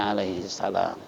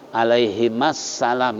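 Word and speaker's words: عليهما السلام: yang kedua bacanya Salah Karena disini yang disebut suhufi ibrahima wa Musa 2 nabi kalau mau alaihimussalam gedegan bukan Alaihisalam Kalau diluar salatnya dalam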